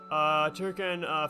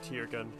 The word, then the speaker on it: Tirkin: I have finally grown accustomed to saying Turkin instead of like Tirkin. Because that's the more common pronunciation is Turkin. So it's just really weird to see people pronounce it incorrectly in the game.